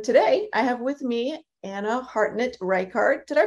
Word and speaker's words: Ana Hartnett Reichardt: And today I have with me Ana Hartnett Reichardt. Did I pronounce all those names right?